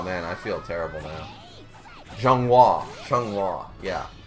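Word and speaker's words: Xianghua: Zhonghua, yeah. The X always screws me up because I'm like, how do I pronounce this again? Zhonghua.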